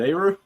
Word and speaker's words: Areaux: AU? Is it AU? That's how my family pronounces it.